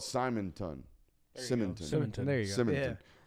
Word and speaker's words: Simonton: It's spelled Simonton. Simonton.